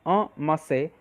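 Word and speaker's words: en masse: इसको दोस्तों प्रोनाउंस करते हैं अमासे।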